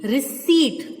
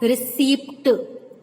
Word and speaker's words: receipt: Let me repeat, receipt. It's not receipt. Okay? Most of the students call it, or most of the people speak receipt. P is silent, P is silent.